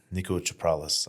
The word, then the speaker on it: Niko Chaprales: Guest this week is none other than the Greek Goliath, Niko Chaprales.